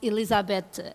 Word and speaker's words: Elisabete: So I am Elisabete. I am Portuguese, so we pronounce Elisabete, and you pronounced it really well.